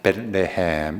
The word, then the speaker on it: 베들레헴: 그래서 여러분, 저 베들레헴 읽을 때에 들자를 좀 세게 읽으면 베들레헴이라면 좀 촌스러운 발음이 됩니다. 그래도 모든 민족교회 다니는 사람은 좀 세련되게 읽으려면 베들레헴 이렇게 읽으면 좀 배웠구나, 알구나, 어느 목사님한테 배웠노, 이제 이렇게 되는 거죠.